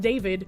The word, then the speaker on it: D4VD: D4VD, pronounced David, whose legal name is David.